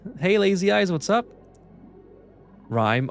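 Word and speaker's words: Rime: Rhyme. Oh, it's rhyme. That's right, because the E makes the I sound like an I.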